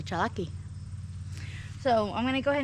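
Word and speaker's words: Tsalagi: Beautiful Cherokee tomato. Or if you pronounce it properly, Chalaki.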